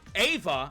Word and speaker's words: Ava: Gang and Diana and Ava I was told her name's pronounced Ava I've been saying Eva for the last nine episodes and no one